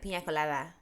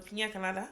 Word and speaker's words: piña colada: No, that's how the Spanish say it. You know, there was an episode of The Receipts, where like they were discussing it, and then Milena was like piña colada, and I was like, that's literally how you say it. Oh, piña colada. Yeah, piña colada. That's why it has the little squiggly thing over the end.